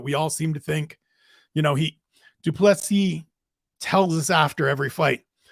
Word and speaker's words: du Plessis: Dricus du Plessis. The S on the end is silent, as he reminds us all the time.